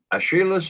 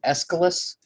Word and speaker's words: Aeschylus: Aeschylus attacks Apollo as a rapacious violator of natural law.